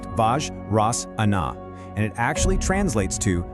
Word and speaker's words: Vajrasana: It's pronounced Vajrasana, and it actually translates to the thunderbolt pose.